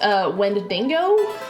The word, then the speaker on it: Wendigo: into the idea of, I believe it's pronounced Wendigo. That is how it is spelled.